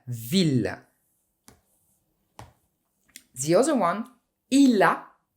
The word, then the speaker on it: ville: Je and j'ai, il a il est, gentil for masculine or feminine, famille, but ville. You must pronounce the double L's here.